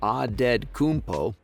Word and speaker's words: Antetokounmpo: Well, there are actually two ways of doing it, so let's take a quick look at both. You say Antetokounmpo in the Nigerian way, and if you want the Greek way, it's Antetokounmpo.